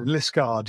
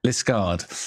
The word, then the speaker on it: Liskeard: We did it then, Liskeard, yeah. Liskeard. Yeah. It's got that rogue E in there.